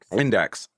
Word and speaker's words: INDX: Index. Yeah. Well, there's no e. Well, I know. I know. But that they pronounce it index.